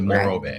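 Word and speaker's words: Morro Bay: And then after that is Mororrow Bay. Yeah. Did I pronounce it right? Moro Bay. Moro Bay. Yep.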